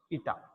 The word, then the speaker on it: eta: This symbol is eta. It's pronounced eta.